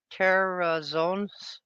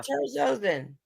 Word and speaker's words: terazosin: Terrazone, it's TERAZOSIN. TERAZ. OSIN. Oh, is it trazodone? Trazocin. Oh, terazozin. Yeah, terazozin. That's what they put me on.